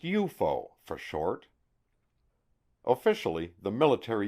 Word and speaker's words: UFO: name unidentified flying objects UFO pronounced eupo for short officially the